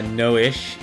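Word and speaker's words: Noishe: you're sleeping what am i a turtle uh noish is how the game pronounces it lloyd's parents i didn't know anything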